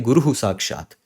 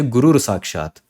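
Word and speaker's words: गुरुः साक्षात्: You cannot say Gurur Sakshat. Gurur Sakshat. No, it is wrong. It does not happen in Sanskrit.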